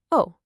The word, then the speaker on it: を: It's written as wo, but when it's being a particle, you just say, oh, simple as that.